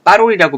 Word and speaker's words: 파롤: 전 빠롤이라고 발음하고 파롤이라고 써야 된다고 말을 했었는데요. 자, 그래서 이제 된소리를 쓰지 않는 것을 원칙으로 한다는 걸 알아두시면 돼요. 그러니까 빠롤이라고 발음되지만 빠롤이라고 안 쓰고 파롤이라고 쓴다는 거죠.